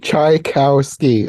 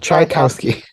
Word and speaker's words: Tchaikovsky: he was You can think of it this way, like chai as in chai tea, cow as in Tri-T, the animal, Cow, chai cow ski, like the sport. Trikowski, Yeah, Trikowski, Tchaikovsky, even though it's spelled Trikowski.